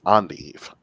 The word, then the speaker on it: endive: little bit tougher because it's not pronounced with an endn sound it's an endive a school's invested assets